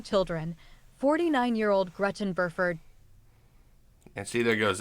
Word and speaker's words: Burford: So her real name sadly was Gretchen Troy Burford. God, I cannot pronounce that. I keep wanting to say Buford, and it's one of those names that you just have so much trouble saying.